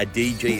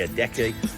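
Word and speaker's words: Adeje: decky it's about adege most people pronounce that a dg it's actually a decky and then you can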